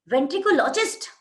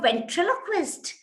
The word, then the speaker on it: ventriloquist: It is a difficult word to pronounce. Then there are some people who would say, you're a ventricologist.